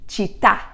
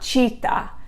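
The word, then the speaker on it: città: when you see one make sure you emphasize it there chitta you can even move your hand to make you try to go up at the end not cheetah like the animal cheetah okay so again don't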